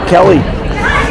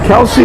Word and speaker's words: Kelsey: And I want to say her name correctly, Kelsey, because last time we covered it, I think we called her Kelly. But it's Kelsey Barnes.